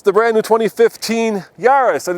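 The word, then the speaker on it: Yaris: squirrel yeah so what rhymes with uh Paris it's built in France but is owned by a Japanese car company and of course the answer is this yarus so let's uh see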